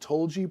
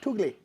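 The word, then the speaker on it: Tulgey: I understand it's pronounced Tolji probably, but we always say Toogly.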